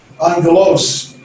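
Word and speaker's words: ἄγγελος: then uh as i'll drink in case now angelos it's not obvious it's on ghettos and so that's just pronunciation uh the vowels we talked about last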